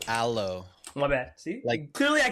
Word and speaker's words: Alo: budget um but uh you said Alo last week brother it's aloe my bad see clearly